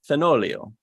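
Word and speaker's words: Fenoglio: If I know my Italian, you probably don't pronounce that G. Fenolio.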